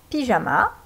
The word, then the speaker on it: pyjama: Pyjama, le Y produit le son I.